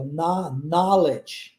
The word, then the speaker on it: knowledge: Então aqui, olha, apesar do início da palavra ser exatamente igual, né? A palavra know, a pronúncia agora é com O aberto, ó, knowledge, ok?